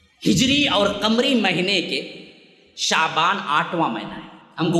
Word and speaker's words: شعبان: آتا، شعبانتن نہیں آتا، شعبان ہی آتا ہے، اور صحیح تلفظ اس کا ہے شین فتحہ والا، عین سکون والا، شعبان۔ شعبان اصل میں نکلا